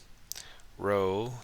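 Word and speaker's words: rho: Row looks like a P, but it's a Greek letter for R, and it's pronounced row.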